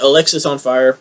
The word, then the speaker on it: Alexisonfire: I have Alexisonfire. That is exactly how you say it. It's not Alex is on fire.